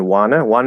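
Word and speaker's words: wanna: In wana is just an N. It's just you close the N and then you release it. Wana. It's not flapped.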